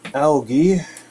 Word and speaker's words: algae: the long side thing the algae or is some pronounce it Algy if you're across the pond oh so much algae